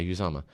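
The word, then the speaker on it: Uzomah: So it is Felix, and I can't even pronounce this dude's last name. Uzama. That's right. Yeah, Uzama.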